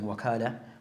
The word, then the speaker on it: wakala: So the word can be pronounced as wakala bit fata over the waw, or wikala. So both are a permissible way of pronouncing the word.